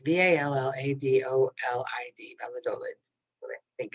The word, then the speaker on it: Valladolid: when i put out this round but it's v-a-l-l-a-d-o-l-i-d valladolid i think it's pronounced is it in spain brazil europe portugal